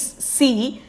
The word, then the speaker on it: सी: C means the pronunciation is C.